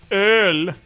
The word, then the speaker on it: Öl: Or as we pronounce it, Öl.